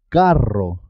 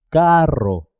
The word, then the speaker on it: carro: eres siempre suena doble carro carro es importante marcar la r perro perro zorro torró